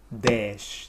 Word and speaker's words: dez: Hey, and finally, desh.